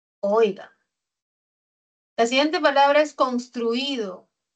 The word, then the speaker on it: construido: Tengo la sílaba tónica en truí. No lo puedo separar porque este es un diptongo de vocales cerradas. Jamás se separan. Por lo tanto, es grave. Termina en vocal, no se tilda.